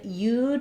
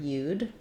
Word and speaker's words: you'd: And then you'd, I've just rewritten that for you here with as though it were one word, you'd.